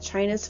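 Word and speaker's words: Qin: built built because of China's first emperor chin Shai hang D the country of China is actually named after this Emperor whose first name is pronounced chin remember a leader is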